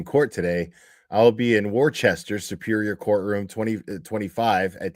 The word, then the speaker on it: Worcester: There's no H in Worcester. I know the H is silent.